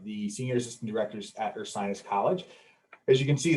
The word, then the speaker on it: Ursinus: am one of the senior assistant directors at ursinus college as you can see there we do like to uh make it clear of how to pronounce the name but it is earth science college so we're located about 25 miles northwest